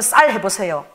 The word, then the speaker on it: 쌀: 여러분 절대 우리는 쌀이 안 됩니다. 저 경상도잖아요. 여러분 쌀 해보세요. 나는 살 이렇게 돼.